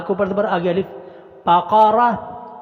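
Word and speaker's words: بقرة: بقرہ، بقرہ کوئی حرف لمبا نہیں کرنا، مجہول نہیں پڑھنا، یہ ذہن میں رکھیے گا.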